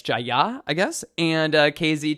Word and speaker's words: Jaya: um jaya is actually pronounced with like the emphasis on the second uh syllable rather than like in the u.s we would say like jaya or jaya uh it's jaya i guess and uh